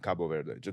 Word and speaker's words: Cabo Verde: How do you say it? Cabo Verde. They just want say it in Portuguese, basically.